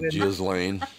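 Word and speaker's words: Ghislaine: did Jan gillain gain you know how many times has that been said you know it's J Lane yeah that's probably the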